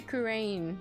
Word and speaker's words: Kurain: Yeah, you say Kurain, the 3 syllables. I say it 2 syllables. Just because it's faster. It's just for differentiation, so. Kurain.